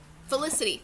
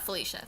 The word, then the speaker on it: Felicity: name in the synopsis Felicity felicity not Felicia felicity so like Felicity on